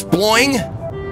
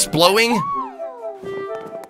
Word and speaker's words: sploing: No, I'm sure it's sploing. Like boing, but with sploing, like with an SPL. But it honestly, I read it the first time as splowing.